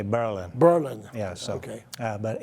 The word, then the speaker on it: Berlin: The locals say Berlin.